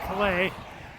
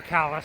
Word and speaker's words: Calais: 30 miles north of Dennisville, about 4 miles to Calais, or Calais, I'm sorry, that's how they pronounce it here.